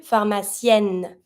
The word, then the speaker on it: pharmacienne: Un pharmacien, PH, F sound, pharmacien. Une pharmacienne, I pronounce my N.